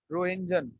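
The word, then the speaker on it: Röntgen: हुए बेटा साइंटिस्ट थे रोहिंजन टी साइलेंट है रोहिंजन नाम के साइंटिस्ट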